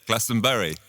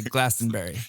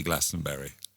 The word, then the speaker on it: Glastonbury: what do you say lessenberry you know Americans we it's very tempting for us to say Glastonbury you can say Glastonbury cuz we've got enough